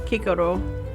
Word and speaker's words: Cicero: Yes, because, well, if you're trying to pronounce it in ancient Latin, the C is hard, so it's Cicero, not Cicero.